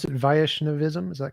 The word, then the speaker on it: Vaishnavism: So tell me some more about uh how do you pronounce it? Vaishnavism. Is that correct? Vishnavism. Yes. Vishnavism.